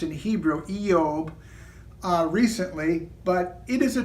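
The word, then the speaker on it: אִיּוֹב: of you have read the book of Job pronounced in Hebrew yeob recently but it is a tremendous book very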